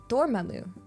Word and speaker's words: Dormammu: Dormammu. Is it pronounced Dormammu?